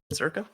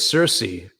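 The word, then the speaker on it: Circe: Circa? So we can discuss that. So the standard way is Cersei. However, I think the original Greek didn't only had hard K sounds.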